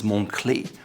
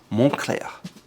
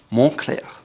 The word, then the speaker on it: Moncler: The next brand is known for their down jackets and winter gear, and it's often mispronounced as Moncler. However, the correct pronunciation is Moncler. Moncler. Again, Moncler.